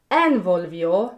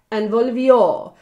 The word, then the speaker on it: envolvió: The second word is envolvió, not envolvió, not envolvió, envolvió. So it's on the very last syllable of that word.